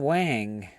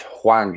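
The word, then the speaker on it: Hwang: isn't He Chang Wang. It's Huang. He Chang Huang. There's no H He in front of that. Chan. You're just missing the H.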